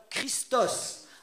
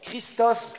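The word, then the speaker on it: Χριστός: Au moins j'ai appris quelque chose ce matin, donc pas Christo, j'aurais pu dire Christo, mais on prononce Christos.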